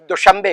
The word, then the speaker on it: دوشنبہ: نام ہے تاجکستان میں، وہ اس کا تلفظ دوشمبے کرتے ہیں، دوشمبہ لکھتے ہیں، دوشمبے اس کا تلفظ کرتے ہیں۔ دوشنبہ ہمارے یہاں دن کا نام ہے، ہم پیر کو کہتے ہیں، منڈے کو.